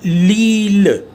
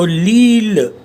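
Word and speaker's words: l'île: So it will be pronounced as Lille. Now Eel is island, so Lille.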